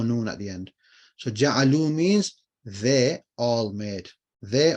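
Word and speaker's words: جعلوا: Ja'alu. Though you don't pronounce this alif, it's just there. But you just say ja'alu, and it's plural, like muslimuna.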